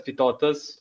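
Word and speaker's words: Vytautas: the pronunciation of him is Vitaitas. I've heard it as Vitotas.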